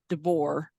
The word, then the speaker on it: Devore: name is it um they spelled it on this page d-e-b-o-u-r like devour devour their name Devore d-e-v-o-r-e um so